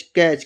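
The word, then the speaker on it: catch: कहीं भी लिखा हो टी और उसके बाद सी एच आया हो, जो टी होगा ये हमेशा के लिए साइलेंट रहेगा।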